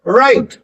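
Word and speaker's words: write: Please राइट। Please राइट। डब्ल्यू की कोई जरूरत ही नहीं है साउंड करने की।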